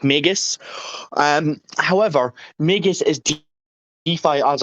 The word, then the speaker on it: Magus: brief overview of uh of mages yeah it's pronounced magus um however magus is as a service so